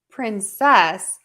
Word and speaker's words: princess: So princes has the stress on syllable 1. Princess, we're going to stress princess, princess, princess, princess.